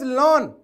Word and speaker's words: ln: It is lawn. It is lawn. Okay.